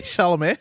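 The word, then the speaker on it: Chalamet: how everyone what's his last name bless say shalam you said shal I've never heard I love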